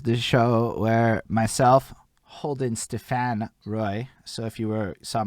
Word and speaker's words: Stephan: Bridge the Gap is the show where myself, Holden, Stephan, Roy. So if you saw my Facebook poster earlier, it's Stephan. That's how you pronounce my fucking name.